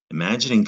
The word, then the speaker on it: imagining: mag is it mag is that gin or gin it's gin that g or if it's followed by an eye is going to be a soft g judge outlet you see